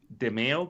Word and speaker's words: Demeo: The pronunciation is Demeo, by the way. Is it? It's so hard. Everybody says it's so different. Think mayo. Just think mayonnaise, Sean.